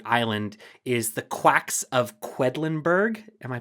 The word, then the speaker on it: Quedlinburg: of figurative desert island is the quacks of quedlinburg am I pronouncing that right that's right that's right okay